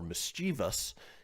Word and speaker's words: mischievous: Pronunciation doesn't really work out the way that it's spelled.